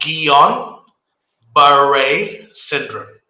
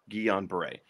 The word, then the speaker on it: Guillain-Barré: So I never know how to pronounce the syndrome. Can you say it for me once again? Yeah. It's called Guillain-Barré syndrome. Guillain-Barré.